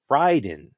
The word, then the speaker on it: Raiden: studio was telling them okay this is the right way you say the word because that's respecting you know their that word from the Japanese culture so let's say Ryden you can also tell